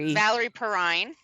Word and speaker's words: Valerie Perrine: Can you pronounce her name for me? Valerie Perrine.